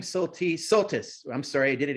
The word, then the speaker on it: Soltisz: And thank you for telling us it's Soltis. I have been pronouncing that wrong.